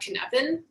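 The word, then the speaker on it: Cynefin: watched um liz pio give a talk about kinevin at a conference um kinevin is a welsh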